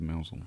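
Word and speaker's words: Mousehole: So yeah, spelt mouse hole, Mouse hole. but pronounced Mousel.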